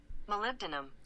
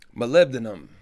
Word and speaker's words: molybdenum: moly been Mollet and let's see how to pronounce it molybdenum molybdenum so my lived in them